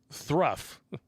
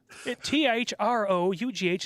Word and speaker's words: through: It's like his day's work was thruff. Thruff? Through is pronounced through.